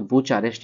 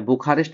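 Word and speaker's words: Bucharest: Romania का बात करें तो बुचारेस्ट या बुखारेस्ट भी बोलता है बहुत कोई, बुचारेस्ट या बुखारेस्ट जो बोलिए, बुखारेस्ट। उच्चारण करने में अंतर है, आपको जो उच्चारण करना है।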